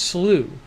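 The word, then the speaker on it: Slough: how about that slu it's pronounced slew says happy quails ares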